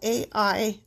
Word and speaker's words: Ai: to the west and Ai to the east. Okay. I want to say it just like that. It's spelled A-I-I. That sounds, yeah. Ai.